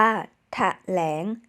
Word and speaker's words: แถลง: ร้อย ล้าน บาป ว่า แถลง หรือ แถลง อ่าน ว่า แถ ลง ถ้า ฉลาด พอ ก็